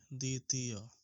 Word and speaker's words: দ্বিতীয়: দ্বিতীয় উচ্চারণটা হবে দ্বিতীয়।